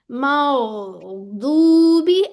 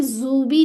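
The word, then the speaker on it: الْمَغْضُوبِ: चलती है, ठीक है, मौ, मौ, मग नहीं करना, मौदूबी। अब यहाँ पे जूबी नहीं कह देना, ठीक है, क्या कहने, दू, और यहाँ पे होंठ गोल हो जाएंगे, मौदूबी, बी, वन काउंट।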